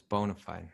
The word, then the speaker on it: bona fide: It's bona fide, although it's spelled bona fide, yeah.